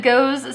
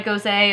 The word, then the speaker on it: Gose: On the back it says this is our interpretation of Gose, and on here they actually says pronounced Gose. So my Gose is totally wrong. It's Gose.